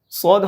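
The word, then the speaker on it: صاد: সদ হরফটার পরে যে দেখেন দ আছে, হ্যাঁ, তো দ মানে আরবিতে এটা দাল হয়, আর দালে কলকলা হয়, এই জন্য এটা শেষে খেয়াল করেন, টানের পরের উচ্চারণটা খেয়াল করেন, সদ।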